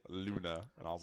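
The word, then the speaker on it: луна: is that it's russian russian yeah it's actually pronounced luna yeah haven't looked it up yeah it's moon in russian yeah that word is pronounced luna yep yeah i just went to the google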